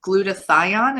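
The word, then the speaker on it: glutathione: the link for the glut to thion is that how you say it yes good and then we're gonna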